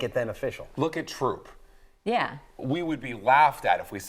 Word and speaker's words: Throop: Troop is not through because a lot of people in Lackawanna County say that TH sound tough so does everyone, as far as you know, in Renovo call it Renova?